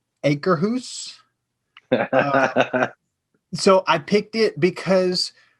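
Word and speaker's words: Akershus: I believe it's pronounced acre hoose.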